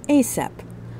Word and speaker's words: ASAP: Pronounced ASAP, an acronym of As Soon As Possible.